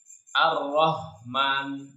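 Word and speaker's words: الرَّحْمٰنِ: Kalau masih belum ketemu, biasanya sering tertukar dengan huruf H. Ar-Rahman, Rahman. Kalau yang H itu dia maknanya di pangkal tenggorokan, di bagian paling pangkal, bagian paling bawah tenggorokan.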